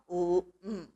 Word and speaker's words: Om: So by the Sandhi rules, Guna Sandhi, A and O becomes O. So when we pronounce, we should say it as Om. When you say it as japa or with any mantra, we must say Om only, because that's according to the Sanskrit grammar, Vyakarana.